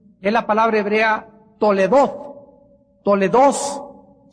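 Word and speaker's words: תולדות: Toledoth se escribe como suena Toledoth, y con H al final, TH al final, y significa registros históricos.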